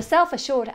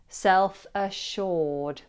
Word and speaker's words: self-assured: And pronounce it as assured, self-assured. You may be able to notice that the double S is pronounced as a sh, self-assured, self-assured.